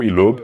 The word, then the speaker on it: Loeb: Porque em alemão você pronunciaria o Loeb, mas essa é a forma errada. Certo, exatamente. Essa é a maneira correta.